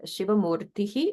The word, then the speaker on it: Shivamurtihi: So in the case of Shivamurtihi, the sound following is Shi in Shivankari. So that visarga gets pronounced like Ish to match the following S sound.